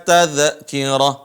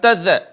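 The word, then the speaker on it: تَذْكِرَةٌ: teman-teman Qalqalah Kalla inaha tadkirah tadkirah bukan Tad tapi dialirin suar suaranya Kalla innaha tadkirah ahsantum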